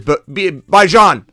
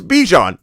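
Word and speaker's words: Bijan: I have no time to go watch somebody that mispronounces Bjon Robinson. That's the LA That's the last person I'm worried about. Somebody that says Baijan. If someone says Baijan, I'm not looking at their channel. I don't have any interest in trying to worry about where they're headed. They're headed to the to where? I don't know where, but they can't even pronounce Bejon.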